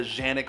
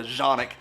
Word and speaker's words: Canik: the tp9 sfx from kanik and before you start typing away yes i know some guys call it the janik or the zhanik nothing like some random dude in toledo telling me how to pronounce turkish words socanic has surged in